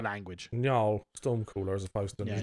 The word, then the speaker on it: Njal: Njal Stormcooler as opposed to Yeah, Njal. and that's why I always find it hard. It's Njal.